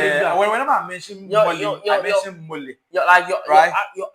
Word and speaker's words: Kofi Mole: Let's move on to some Mole news. You know Kofi Mole. I don't know why you confuse Mole and Molly. I don't know why you do that. Whenever I mention Mole, I mention Mole.